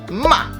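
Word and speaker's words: 骂: falling tone which is the fourth tone ma that means to scold or abuse somebody here's where it's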